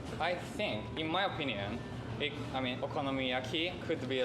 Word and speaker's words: okonomiyaki: And actually, we have like one hot dog that has a topping of okonomiyaki, and American people really liked it.